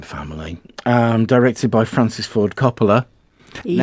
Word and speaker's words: Coppola: Directed by Francis Ford Coppola.